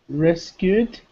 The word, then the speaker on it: rescued: Rescued? Very good. Rescued. Perfect. So you see, again, there's no id, right? No rescued. Just rescued. Rescued.